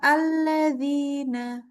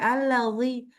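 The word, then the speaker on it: الذين: Sebentar sedikit coba bilang alladzina. Alladzina diulang dzi jangan sampai alladzi. Alladzina. Alladzina. Iya. Karena bacanya zinya agak cenderung tebal tuh.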